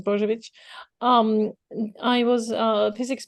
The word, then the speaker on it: Bozovic: I typically pronounce it Bozovic just to make it easier, but your official pronunciation is Bozovic.